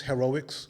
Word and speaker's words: Hairoics: It's called Shelby's Heroics. Yeah. It's spelled CHELBYS. Heroics is spelled HAIROICS.